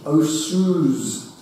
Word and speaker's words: Osoyoos: Victoria, Australia, Fairfax, British Columbia, the, I can't pronounce it, Osoyoos, O-S-O-Y-O-O-S, the Osoyoos Indians, probably Canada, and 14 US states.